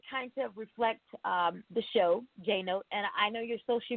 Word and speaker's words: Jeannot: My last name is Jeannot, but my friends call me Jeannot. Jeannot. All right, I got it. Jeannot. That would kind of reflect the show, Jeannot, and I know your social media as well, Jeannot.